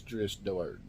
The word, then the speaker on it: Drizzt Do'Urden: that as far as I know the correct pronunciation of his name is dris Dort so I just want to get out that